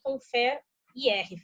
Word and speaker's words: ConferIR: das empresas G-Click e Confer IR. Falei direito, Marcelo? Pronunciei direito? Falou. Só a última é conferir, mas tá tudo certo.